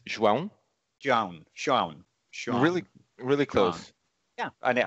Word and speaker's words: João: So, and it's not, it's not, which was one of the suggestions. It's not. It's not either, and I do apologize.